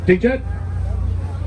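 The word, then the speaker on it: jeet: friends out to lunch we don't say did you eat yet because we do not have time for that many syllables instead we say djet j-e-e-t j-e-t and finally my personal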